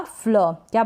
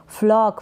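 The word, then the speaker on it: flock: एफ एल का फ्ल क्या बन गया? फ्ल, और ओ को ऑ पढ़ रहे हैं, फ्लॉक, फ्लोक ना पढ़े, फ्लॉक, ब्लॉक, ब्लॉक गलत हो जाएगा, ब्लॉक, ठीक है, ओ का साउंड आना चाहिए।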